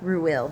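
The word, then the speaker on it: Reuel: I'm pronouncing that right r e u e l ruil that's how I say that uh their father uh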